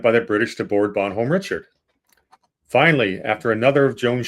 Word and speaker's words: Bonhomme Richard: So, uh first of all, now for your education, uh the pronunciation is Bonhomme Richard.